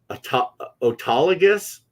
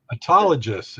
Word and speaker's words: autologous: It reminds me of analogous, of course, which is why I use the hard G, but maybe it is a soft G.